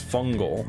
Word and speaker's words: Fungal: match i agree miss fungal i didn't even realize that it changed it's pronounced missed fun gal actually deployed two fun